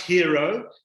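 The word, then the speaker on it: HIRO: yeah it's called the hero line spelt h-i-r-o pronounced hero but the i represents you so i i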